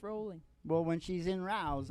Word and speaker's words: Rowling: It's Well- pronounced rolling.